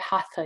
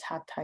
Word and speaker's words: hatha: sanskrita or sanskrit workshop there's no th sound in sanskrit so even though we tend to say hatha yoga we might more correctly pronounce it as hatta yoga physical yoga or the